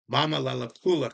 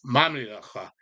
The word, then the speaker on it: Mamilaka: Mamalelakula comes from some pompous government official back in the colonial age who didn't take the time to spell or pronounce Mamilaka, our tribal name.